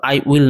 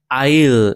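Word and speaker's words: I'll: Short form তাই এটার উচ্চারণ হবে আই এ উচ্চারণ কিন্তু আই উইল নয় আইল মানে একটু টেনে উচ্চারণ করতে হবে।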